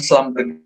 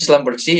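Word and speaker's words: Schlumberger: industrian tambang dan energi itu bacanya bukan slamer tapi Slam bersih ya dan juga hal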